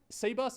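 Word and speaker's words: Cbus: can be corrected um seus in all their marketing material on their website I went and checked because I wanted to make sure present themselves as seus CB that's how you spell it yeah if you write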